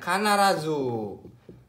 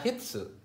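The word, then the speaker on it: 必: Ini bacanya kanarazu. Kanarazu. Artinya pasti. Atau bisa dibaca hitsu.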